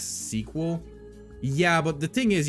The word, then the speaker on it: SQL: info um you know SQL is pronounced in the cording Community as sequel yeah but the thing